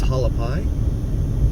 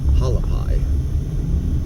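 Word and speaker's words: Hualapai: says there this is halapi h u a l a p i p a i halapy I've heard everyone else pronounce it halapi so that's what I call it definitely looks different than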